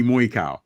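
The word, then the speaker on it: Moicano: benil darush versus heto MOA right if you if pronounce it right money mo cow he calls himself money Moy cow right and these are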